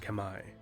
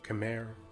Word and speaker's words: Khmer: which is now modern-day cambodia the kemmer correctly pronounced kamai or khmer or in english are an ancient people whose